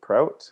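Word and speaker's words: Proute: my name is jason prout uh p-r-o-u-t-e is the spelling the e is silent um if you're french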